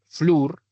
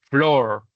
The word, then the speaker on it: floor: No se dice flur, ¿cierto? sino dice floor. Esa es una excepción.